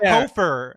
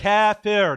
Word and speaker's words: kafir: What's There's no It's not Kofheer. It's caffir say I am such a nana of faith. It's the star. Learn how to pronounce it. It's kafir, not kof.